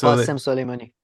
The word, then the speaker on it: Qasem Soleimani: How do you pronounce his name? The general who he killed? Oh, Qasem Soleimani.